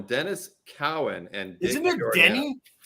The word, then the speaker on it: Cowan: cake dennis cowan everybody that's a cowan not cohen dennis cowan and isn't it danny